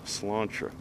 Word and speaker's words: Sláinte: So if you ever go to Sláinte, it really is an Irish pub. I believe it's slánteirishpub.ca is the website. Sláinte, by the way, is Gaelic for cheers, and it's spelled S-L-A-I-N-T-E, but pronounced Sláinte.